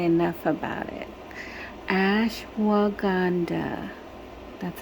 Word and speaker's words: ashwagandha: Ashwagandha. That's how you pronounce it.